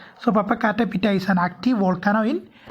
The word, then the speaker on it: Popocatépetl: So remember the pronunciation. Popocatépetl. Remember that pronunciation. So Popocatépetl is an active volcano in Mexico.